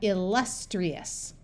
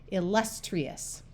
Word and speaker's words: illustrious: Vowels at the beginning of a syllable usually use their short sound, so we have illustrious. Remember that an I at the end of a syllable can have a long E sound, and it usually does before another vowel. So that's why we have tree, illustrious.